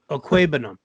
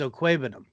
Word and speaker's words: Okwuegbunam: It's Okwuegbunam. Is that a guess or a no? Do you know how to say it is? I know how to say. Yeah, it's Okwuegbunam.